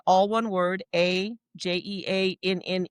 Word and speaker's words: Jeanne: And it's um like I said, all one word, a j e a n e.